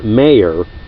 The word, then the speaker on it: Mayer: the United States and he spelled his name one way and said it another and most Americans bastardized